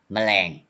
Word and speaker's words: แมลง: 100% tone but half tone 50% mama you pronounce 50% okay แมลง you say clearly แมลงกึ่ง mean half or 50